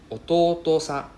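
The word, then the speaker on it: 弟さん: Right, so this is to and to, right? And then the first to is a long O sound. So ototo-san. Okay, so please be careful, don't forget the second to. If not, you're calling your brother your father. Right, oto-san or ototo-san. It's very different.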